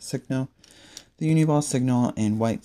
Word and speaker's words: Signal: I know some people pronounce it Sino. I pronounce it Signal.